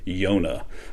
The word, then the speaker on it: yonah: word for dove is the word yonah that word probably sounds really familiar in english we would pronounce it jonah so jonah in the